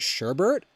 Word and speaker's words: sherbet: do pronounce i pronoun I've always pronounced it sherbet I feel like a lot of people do but yeah it's yeah you're right it's you're right um bearded poketuber yeah there is no second R I don't know maybe